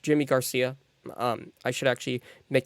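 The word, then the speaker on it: Yimi García: piece um but the Mariners uh again got yimi Garcia or it it looks like yimy Garcia but it is pronounced Jimmy Garcia um I should actually make that very clear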